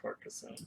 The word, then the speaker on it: Carcassonne: I want to say it's from Carcassonne, Carcassonne? Carcassonne, It's Carcassonne. pronounced Carcassonne. I hate anything. It sounds like carcass.